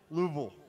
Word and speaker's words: Louisville: song Louisville song no it's two syllables Lou Louisville Louisville have you ever lived